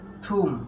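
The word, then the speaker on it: thumb: ধরো আমরা কি বললাম, এম বি যদি পাশাপাশি থাকে এবং এই বি এর পর যদি কোনো ভাওয়েল না থাকে, তাহলে কি এই বি এর উচ্চারণ হবে না।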